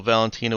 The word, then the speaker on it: Valentina: the Trisha is 14 for Greek you stress the second you generally stress the second syllable of the name okay so Valentina would be Valentina yeah okay well in